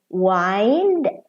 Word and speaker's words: wind: tears are falling down the verb whined like I'm winding my watch and wind the wind is blowing well we're past tense